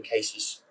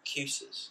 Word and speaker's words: Kuisis: And I was intrigued because my wife's surname is spelled Kuisis. So it doesn't look like how you imagine Casey's would be spelled. And so most people pronounce it Cusis.